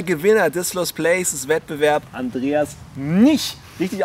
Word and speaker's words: Andreas Mnich: ...198 Likes auf der Facebook-Seite, der Gewinner des Lost Places Wettbewerb, Andreas Nich. Richtig ausgesprochen?